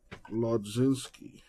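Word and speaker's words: Mlodzinski: Carmen Lodzinski. I think the M is silent on that pronunciation.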